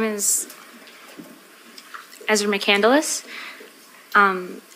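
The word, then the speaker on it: McCandless: able to do that state your name and spell it for the record please my name is Ezra mandus um e m e z r a m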